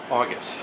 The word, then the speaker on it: Augis: Augis.